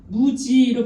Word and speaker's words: 목지: 목지는 무지로 발음하며 무지는 우지가 됩니다. 그래서 월지와 같은 발음입니다.